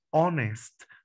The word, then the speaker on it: honest: coronado honesto honesta honesta noten chicos que la pronunciación se parece a la vocal o honest pones nosotros si